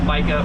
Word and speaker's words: Micah: And then also in Miami chartering, a lot of Spanish speakers have a hard time pronouncing Micah. Like it's pronounced Mika in Spanish. So everybody would say Mika, and I wouldn't even respond. It's not my name.